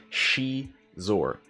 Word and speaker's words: Xizor: Lou says, I believe the correct pronunciation is She-Zor. I tend to agree, but I'm going to say Zizor. I'm going to say Seesaw.